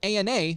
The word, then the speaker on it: ANA: It's an acronym that Ethan pronounces ANA instead of ANA like most every medical...